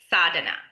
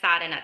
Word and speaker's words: sadhana: So the one the thing I wanted to talk about today is called sada and it's spelled s a d h a n a sada and what it means it's a Sanskrit word that basically means our spiritual practice.